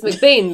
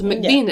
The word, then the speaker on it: McBean: Even the kids' surname, like, it's McBain, but it's spelt McBean. And they always get called McBean at assemblies, and they hate it.